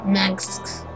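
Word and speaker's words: Mengsk: Mengs. That's how it's pronounced.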